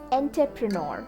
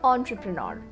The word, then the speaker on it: entrepreneur: The incorrect pronunciation is entrepreneur. Entrepreneur. The correct one is entrepreneur.